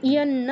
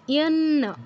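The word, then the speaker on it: যন্ন: আচ্ছা, তারপর যেটা বলছিলাম ইয়ান্ন, দুটো ন আছে, দুটো ন উচ্চারণ করতে হবে, একটি ন করলে চলবে না, ইয়ানা বললে হবে না, ইয়ান্ন দিতে হবে, ইয়ান্ন।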